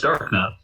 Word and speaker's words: Darknut: It's Darknut. Darnute, baby. Darnute. No, those people are... That's ridiculous. It's Darknut.